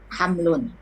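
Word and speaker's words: حَمْل: Hamlun.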